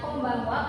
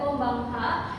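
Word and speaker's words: こんばんは: Pertanyaan yang bagus Fitria, kenapa dibacanya koniciiwa? Kenapa dibacanya kombang wa? Kenapa bukan koniciiha dan kombang ha? Itu karena ee hurufana itu sebagai penanda partikel gramatikal sebagai ee tanda sebuah di sebuah kalimat tersebut.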